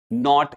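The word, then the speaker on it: knot: के एन ओ सी के में भी के साइलेंट है। नॉक पढ़ते हैं और नॉट इसको पढ़ा जाता है।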